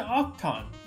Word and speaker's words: Octan: And then we're going on to Octan. That's how you say it.